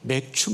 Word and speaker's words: 맥추: 기원합니다 오늘은 맥추 감사입니다 발음은 잘못하시면 안 돼 맥주가 아니라 맥추 입 맥추감사절 보리를 거두고 첫